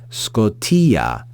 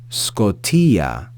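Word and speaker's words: σκοτίᾳ: a circumflex accent te we then have the sigma as I mentioned before the initial Sigma followed by Kappa Omicron Tau Yota with a with an acute accent and an alpha with the Yota subscript so Scotia Scotia we then have the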